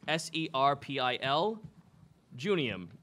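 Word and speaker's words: Serpil Juniem: Could you repeat How do you spell that? Serpil, S-E-R-P-I-L, Junium, J-U-N-I-E-M.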